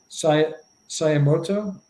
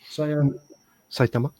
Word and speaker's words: Saitama: I'm sure I'm not going to pronounce this correctly. Sayamoto? Saitama.